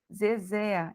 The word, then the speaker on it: Zezé: Zezé é a última sílaba mais forte.